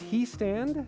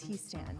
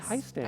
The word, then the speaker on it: Houston: It's he stand? It is he stand. I always say hi stand.